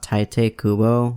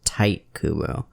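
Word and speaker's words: Tite Kubo: got into the manga i thought taite kubo was pronounced tight kubo i literally had no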